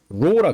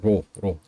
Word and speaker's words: rho: 그래서 이거를 그 구자 거꾸로 써놓은 것처럼 생긴 이거를 rho라 그래요. rho. RHO. 영어 스펠링은 RHO야.